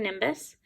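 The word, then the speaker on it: gibbous: This would be the waxing nimbus. It's kind of a weird word, but that's how you pronounce it, waxing nimbus.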